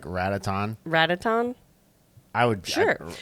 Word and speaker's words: Ratatan: So if one is called Patapon, wouldn't you guess that it's like Rataton? Rataton? I would. Sure. Ratatan.